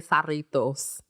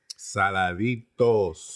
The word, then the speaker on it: Saladitos: Now Mike gonna make me feel all self-conscious because I say sarritos. Saladitos.